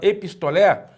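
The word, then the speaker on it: ἐπιστολή: Aqui nós temos na palavra epistolé, observe bem que o acento está no eta, que é a sílaba tônica, né? Epistolé, epistolé. E você observa que na vogal épsilon tem uma aspiração suave também, uma aspiração branda, que mostra para nós que essa vogal não sofre alteração na pronúncia. É uma pronúncia normal, é epistolé.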